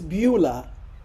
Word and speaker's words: Beulah: authored it's way over in how do you pronounce it oh that's misspelled it's beulah beulah okay way over in beulah land and